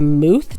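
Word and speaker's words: muth: jars are called and I'm probably going to butcher how you say this but a mooth jar it's spelled m-u-t-h I had no idea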